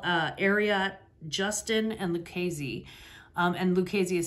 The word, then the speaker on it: Lucchese: And Lucchese is spelled L-U-C-H-E-S-E, like the crime family in New York, but different.